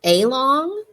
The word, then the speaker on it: along: that schwa okay so this word along follows that rule okay so that a actually says uh so and you know the word long so what would make sense to you a long a long or along i was walking along